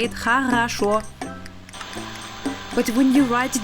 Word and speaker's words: хорошо: And when you phonetically sound it out, it sounds хорошо. That's how you say it, хорошо.